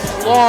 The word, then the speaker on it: Plonk: give me a break his name is plong thank goodness he said